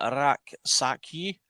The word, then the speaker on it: Rak-Sakyi: It's forgive me if I potentially mispronounce this, but it's Jesarun Raksaki.